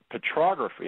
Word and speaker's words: petrography: So, I want to hear you're a geologist, and I've been learning about petrography. Am I pronouncing that correctly? Yeah, you got it right.